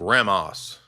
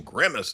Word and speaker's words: Grimace: I want to talk about Grammos. Grammos. Grammos. What's the proper pronunciation? Grimace, dude. I'm talking about Grimace.